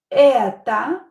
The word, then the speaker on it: это: Это, or, not stress, pronounce it as I.